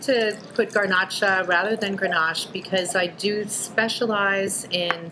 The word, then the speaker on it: Grenache: This is get into pronunciations again, Grenache. Correct. So it's Grenache, Right.